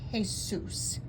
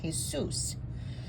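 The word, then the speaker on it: Jesús: books Los Milagros de Jesus see that accent over the U that tells you that that's where you put that emphasis Jesus so we have Los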